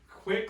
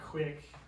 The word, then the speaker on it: quit: Quit claim deed, not quick, not quick, not quick. Quick. It's not quick, it's not quick. Everybody says quick. I always hear Because they quick. wanna say it quickly, you know, they wanna say it quick. It's quit, quit claim deed, Mm.